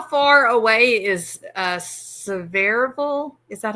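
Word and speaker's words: Sevierville: physician how far how far away is uh seille is that how you say it well where he was at I think was in Gatlinburg uh but several um yeah severville that's that's basically where I at and it's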